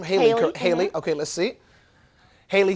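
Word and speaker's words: Hailee: Haley? Is that how I pronounce her name? Haley.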